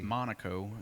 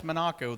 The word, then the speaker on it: Monaco: Tony Stewart from Indiana Monaco is that a knock oh but it's he said it's Minako that's how its properly pronounced but but yeah I